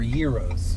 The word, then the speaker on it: gyro: Gyros, or Euros, however you say it. How do you say it? What do you say, gyro or euro? Euro.